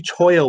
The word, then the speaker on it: cholla: So it's kind of funny because I always say, hey, you know, do you need some more cholla wood and everything? It's actually Toyo wood. So this is what it does. I always mispronounce it, so it is what it is.